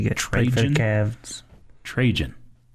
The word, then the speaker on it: Trajan: Trajan. Tragan, maybe? Okay. Yeah. No, Jan. Jan, not Gan. That rhymes with Cajun.